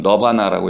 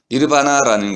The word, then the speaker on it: 니르바나: 우리가 흔히 말하는 열반이라는 세계에 들어간 니르바나에 들어가는 너바나라고 영어로 발음하는데요. 좀 촌스럽습니다. 너바나가 아니고 니르바나입니다. 니르바나라는 것은 평정심, 고요 이런 뜻인데요.